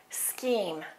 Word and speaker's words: scheme: at the word scheme scheme that sch is pronounced like this sk scheme a scheme is a